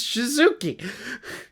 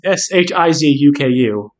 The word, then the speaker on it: Shizuku: I like how it's written right there, and you're like, her name is Shizuki. Oh. Well, wait, I have Shizuku. Yeah, that's how you pronounce Shizuku, but you said Shizuki.